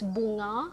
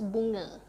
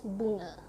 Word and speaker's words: bunga: So yeah, just keep in mind, if you encounter a Malay word, right, and the A is right at the end, the pronunciation stops being A, it becomes So it's not bunga, it's bunga.